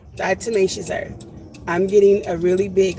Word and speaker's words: diatomaceous earth: never say it right I always want to say die tumultuous Earth but that's not diatomaceous earth diatomaceous earth I'm getting a really